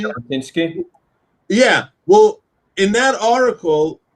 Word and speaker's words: Jabotinsky: Do I pronounce his name correctly? Jabotinsky?